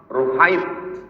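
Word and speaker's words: رهيط: Ar-ruhaitu bi dhammir ra, cara membacanya huruf ra-nya dhammah, ru. Tasghir rah, ruhait.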